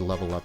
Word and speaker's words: LVLUP: Seat Headrest, cannot recommend Level Up enough. If you really like the Silver Juice, that's sort of like fuzzy, garagey, meditative but catchy rock. Just listen to Level Up. LVLUP is how it's spelled.